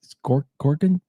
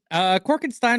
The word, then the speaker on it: Corkenstein: We have, let's see, that is, it's Corkenstein. How do you pronounce that again? Corkenstein or Corkenstein. Like I said, I'm happy with both. But yeah, most people just say Corkenstein.